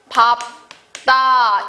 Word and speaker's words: 밟다: 그래서 리을 비읍이 초성의 비읍이 왔을 경우에는 다 비읍으로 발음합니다. 흙을 밟다 이게 표준 발음이에요.